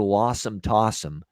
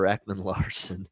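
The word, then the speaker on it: Ekman-Larsson: him they get uh as don cherry uh would always say oliver lawsom tossum uh he always butchered that name oliver ekman larson uh arizona coyotes uh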